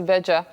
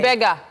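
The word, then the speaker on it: Bariga: As soon as you got to Beja, the traffic... Oh, by the way, don't say Beja on the bus, so Is it? you'll pass your bus stop. But that's Bega.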